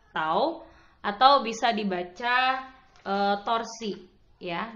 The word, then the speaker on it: tau: Ini dibaca tau. Jadi bacaannya adalah tau atau bisa dibaca torsi ya. Jadi bacaannya adalah tau atau torsi.